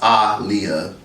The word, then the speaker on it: Aaliyah: Technically, it's Aaliyah for a lot of you guys didn't know. Her name was actually pronounced Aaliyah. You don't believe me? Do your research.